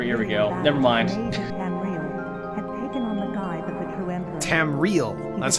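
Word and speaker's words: Tamriel: oh no here here we go their minds tam real that's how it's pronounced landscape so did you did you catch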